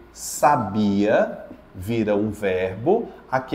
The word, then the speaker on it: sábia: mim mais uma vez sábia sábia a mais forte é o s não é isso eu posso fazer sabia vira um verbo aqui